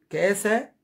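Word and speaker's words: kasa: كاسا، كاسا كي اي اس اي، كاسا.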